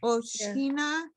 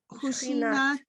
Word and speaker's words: ושכינה: ומודים לפני מלך מלכי המלכים הקדוש ברוך הוא שהוא נוטה שמיים ויסד, ויסד ויוסד ארץ ומושב יקרו בשמיים ממעל ושכינה It's a ושכינה not ושכינת that's another one.